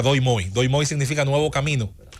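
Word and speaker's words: Đổi Mới: Y se genera una política que en vietnamita se pronuncia Doi Moi.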